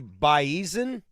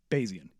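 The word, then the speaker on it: Bayesian: Uh, web jams comes to you from the baen basin basian. Basian, thank you. I can't pronounce that correctly.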